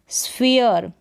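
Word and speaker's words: sphere: आर से पहले जो आ रहा है इसका उच्चारण इय होता है जैसे कि यहां पर देखें स्फीयर क्या है स्फेयर क्योंकि यहां पर कॉमिनेशन है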